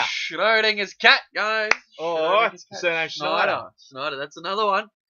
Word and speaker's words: Schneider: SCH is a sh, as in shut the fuck up. Oh, shit. Or scheiße. Yeah. Sure. Right? SCH. It's pronounced SH. SH. It is always and always will be, always has, always will be pronounced SH.